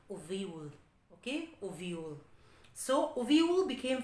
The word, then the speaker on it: Avial: A-V-I-A-L. Avial. No, you should pronounce Oviul.